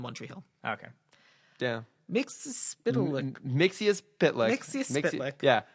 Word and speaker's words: Mxyzpixilated: Mxyzpixilated. Mxyzpixilated. Mxyzpixilated. Yeah. It's a spitlick. Because he pronounced it for himself, right? It's like mix, yes, spit, lick.